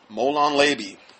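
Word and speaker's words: molon labe: talk about that yeah come and take it molon leby that's how you say it anyway according to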